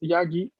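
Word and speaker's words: ヤギ: Ok, solo atención que no es una sílaba larga al inicio, es yagi, yakyu, Yagi. yakan.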